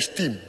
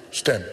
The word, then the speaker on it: STEM: Dulu saya kata saya silap sebut STEM ni STEAM. Jadi dia kata bukan STEM, dia kata adakah STEM itu bidang baru. Hari ini saya make sure kerana pronunciation saya itu betul, STEM.